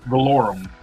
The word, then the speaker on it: Valorum: How do you pronounce his name? Yeah, I I didn't Vader was very forgettable in this. Valorum. Prince Valorum.